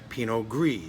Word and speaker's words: Pinot Gris: from where the grape originated in Alsace, France, Pinot Gris, Gris, pronounced Gris.